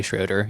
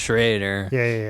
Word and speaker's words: Schraeder: people would always say schroeder even though the german pronunciation is Schrader my dad got tired